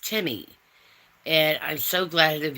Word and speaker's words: Temi: And that's how you say my name. And it's real simple. Um a lot of people want to say it different. If you want to call me, that's fine, too. I don't get offended very easily, so do your best. But it's actually pronounced Timmi.